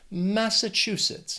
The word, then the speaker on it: Massachusetts: They also have 4 syllables, and the stress is on that 3rd syllable, that chew. Massachusetts.